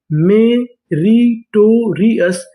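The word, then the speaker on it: meritorious: मेरी टोरियस मेरिटोरियस।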